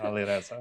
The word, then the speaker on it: Alireza: That's the proper pronunciation, Alireza.